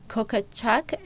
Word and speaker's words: Kokochak: Today my guest is Mary Jo Kokochak. Now, she said she's not going to kill me if I don't pronounce it correctly. Did I pronounce it correctly, Mary Jo? You said it perfectly, Wynn.